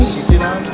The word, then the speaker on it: Ichiran: This is how do you pronounce it, Andy? Ichiran.